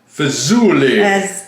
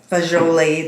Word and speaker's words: fagioli: Is it fazool or is it fazooli? It's spelled fazooli though, right? It is. Fagioli. That's how. Pasta fagioli. But according to when you look it up, it says New Yorkers say fazool.